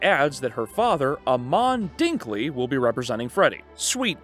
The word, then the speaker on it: Dinkley: Back at home, Velma catches the news broadcast announcing his arrest and the news anchor gets her name wrong, saying Vermin Dorkley, and adds that her father, Amon Dinkley, will be representing Freddy.